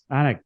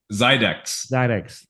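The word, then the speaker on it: Xidax: How do I pronounce that? Zydex. Got it. Say it again. Zydex.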